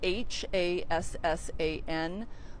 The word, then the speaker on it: Hassan: So we have 18-year-old Hassan Lagundi of West Valley City, and he's the one who appeared to have been the suspect's primary target. Hassan is Hassan.